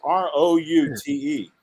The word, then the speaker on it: route: the u.s and it's r-o-u-t-e yep now root the word root like a tree root is r-o-o-t that's right but the word out is o-u-t yep so i would say it should be properly pronounced route yeah route 309 route 95 route 66 yeah but i always